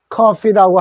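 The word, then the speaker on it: coffee: 커피는 너무너무 많이 알려져 있어 가지고 우리가 영어 그냥 커피라고 하는데, 원래 발음은 코입니다. 원래 요대로 코를 읽어주면 돼요. 물론 요 오자가 발음 나는 경우도 있지만 커피라고 할 때는 요걸 코라고 그대로 읽어주시면 됩니다. 그렇다고 해서 커피라고 해서 틀린 건 아닙니다.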